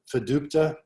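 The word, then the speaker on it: FDUTPA: In the Diamond Aircraft case, fiducia, that's the right way to say it, applied to any defendant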